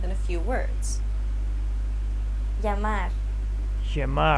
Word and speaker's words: llamar: Double L's are not pronounced the same as the English L sound. Many Spanish learners tend to pronounce it as such or try to extend the sound to compensate. However, the actual sound is quite different. Listen to it again. Y. Yeah. It sounds like a combination of an L and a Y sound.